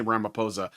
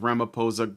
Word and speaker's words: Ramaphosa: Ramapo Ramiposa or Ramoposa, it looks like a ph sound, but I've heard it pronounced with a P, so I'm just going to say Ramiposa, visited the Oval Office